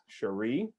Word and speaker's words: Sharae: pronounce it? Sharae, Hooray.